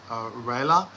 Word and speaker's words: Rayella: Just to be specific, not in the room, I'm a girl and my name is Rayla. The spelling is Rayella, but it's pronounced Rayla.